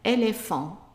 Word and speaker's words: éléphant: And so A, and then L followed by an E with an accent, le. So A, le. PH, F. AN, whenever you have an AN followed by a consonant, it's pronounced on. So it's A, le, fon. T at the end most of the time is silent. So I underlined it here, meaning that we are not pronouncing it.